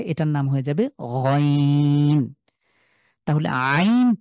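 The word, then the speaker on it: عين: নাম হয়ে যাবেন তাহলে আইন টাকে ঠিক হার মতন করে উচ্চারণ করব খুব ভালো করে একটু শোনেন তো মনোযোগ দিয়ে কিভাবে উচ্চারণ করছি আইন আই কন্ঠে মাঝখানে চাপ দিয়ে উচ্চারণ করছি আমি ঠিক যেভাবে হা কে উচ্চারণ করেছিলাম এই হা এবং আইনের উচ্চারণ সেইম কন্ঠে চাপ দিয়ে গলার মাঝখান থেকে আবার হাম একটু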